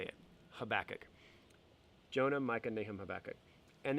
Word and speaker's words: Habakkuk: jonah starts the second section jonah micah nahum habakkuk that's a crazy name but that's how you say it habakkuk jonah michael nehem habakkuk and then the last